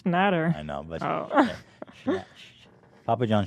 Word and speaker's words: Schnatter: As you mentioned, name wrong. It's Shhat. No, it's Schnatter. I know, but Papa John Shatner is way funnier.